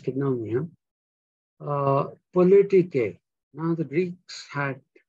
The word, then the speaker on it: koinonia: Koinonia is written Koinoina, koinonia actually, N-O-N-I-A, yeah, koinonia, but it's pronounced koinonia.